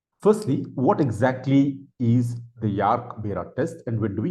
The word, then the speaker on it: Jarque Bera: In today's video, I'll be talking about what is called as the Jarque Bera test. Some people also pronounce this as Jarque Bera test.